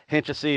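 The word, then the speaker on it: Hynčice: Hinčesy is that's how you pronounce this. And that's not. There's some sort of symbol that goes over this C that I wasn't able to get.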